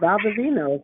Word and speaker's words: Valdovinos: oh wow, Valdovinos. Why can't they pronounce I, that?